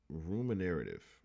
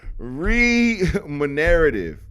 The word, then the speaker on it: remunerative: Ruminative. That's not how you're saying it. I'm saying that wrong. I know I'm saying it wrong. Ruminative. Oh my God. Remunerative. Remunerative. That's what we going with.